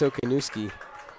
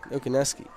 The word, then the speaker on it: Okanuski: That's Okanuski. Said it right that time. Okaneski. I said it wrong.